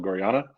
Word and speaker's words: Gorjana: of e-commerce at gorana uh yes it's called gorana for those of you that have been mispronouncing it for forever I'm really excited to